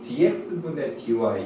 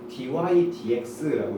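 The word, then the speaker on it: dy/dx: 그래서 마치 dx분의 dy 이런 분수의 형태로 써주는 건데 엄밀히 따지면은 얘를 dx분의 dy라고 읽으시면 사실 안 되는 겁니다. 왜냐면 얘는 사실 분수의 표현이 아니라요. 그냥 dy dx라고 읽으셔야 돼요.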